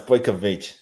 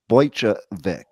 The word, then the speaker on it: Bojkovic: It's Bojkovic. I knew it, and I said it right in my head right before I said it too. But I'm glad you saved me. Because what I would have originally said without any coaching is I would have probably said Bojkovic or something like that.